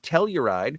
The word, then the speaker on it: Telluride: features in the lineup telluride will is that how you say it yeah i tell you right uh we'll showcase several